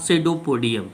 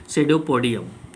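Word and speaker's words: pseudopodium: So these are called the false feet या सेडोपोडियम. PSE से start होता है इसकी स्पेलिंग, सेडोपोडियम.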